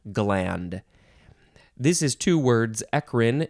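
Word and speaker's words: eccrine: this is two words ekrin is e c c r i n e you can also pronounce it uh ekrine or echrine eckerin ekrine ekrine it is a gland a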